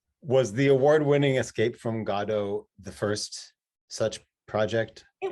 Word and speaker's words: Godot: Was the award-winning Escape from Godot the first such project? It was. And also kudos to you for pronouncing it correctly.